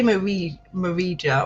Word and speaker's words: Marija: But yeah, I'd say Marija, or is it like Maria but with a silent J in it? Okay, she's from It is Maria. It is Maria. Okay, silent J.